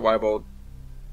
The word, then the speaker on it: Weebold: Name's Weebold, pronounce it Weibold.